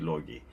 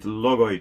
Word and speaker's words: logoi: If you are Greek, of course, you'll say logi. But let's call it logoi today so that people don't get confused.